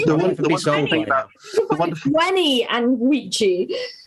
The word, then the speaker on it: veni: I think about it's Wenny, Weedy, Vici. Yeah, that's the useful things you know if you learn Latin. If they wanted us to pronounce it Wenny and Weedy, they should have drawn the other half of the fucking W.